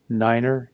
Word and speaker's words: nine: Niner is just not just 9, it's niner.